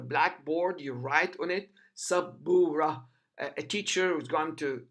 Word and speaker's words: سبورة: The ba, the first ba, which is the second letter, the first ba has got sukoon above it, and the second ba has got dhamma above it.